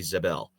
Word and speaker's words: Zabel: Banks Jr., and Gray Zabel. Zabel Zable Zabel is it? Oh, I said it right the first time.